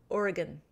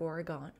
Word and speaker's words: Oregon: I keep saying Oregon. I have been corrected in Sunday Sipper Clubs past. Oregon. They know you're not from Oregon if you say it like Oregon.